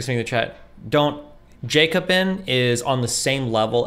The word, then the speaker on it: Jacobin: or or russia today or something yeah it's pronounced jacobin okay jacob yeah it's just total trash but